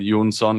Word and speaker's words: Jonsson: you got it right Yoon sun is the Swedish pronunciation of my last name or if they go